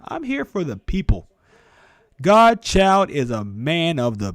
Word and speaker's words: GDChyld: It is pronounced Godchild. Like God, child. That's how I pronounce it.